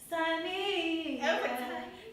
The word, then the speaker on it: Saaneah: No H at the beginning. No H's. Saaneah. Like that. Y'all remember Taina? I would always, when I watched it, I would be like, Saaneah, Saaneah.